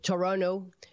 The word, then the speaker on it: Toronto: toronto incluso en el pronuncia toronto como local le quita la última te dice chorro nou porque pues tiene lazos